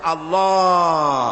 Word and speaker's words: আল্লাহ: পাকের নামের উচ্চারণ হচ্ছে আল্লাহ আল্লাহ মুখটা একটু গোল হয়ে যাবে বলেন আল্লাহ আল্লাহ সুবহানাল্লাহ পৃথিবীতে বিভিন্ন